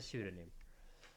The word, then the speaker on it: pseudonym: Do you hear the letter P in those words? Psychologist, pneumonia, pneumatic, and pseudonym.